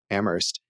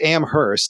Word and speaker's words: Amherst: He says Amherst, and you're not supposed to pronounce the H.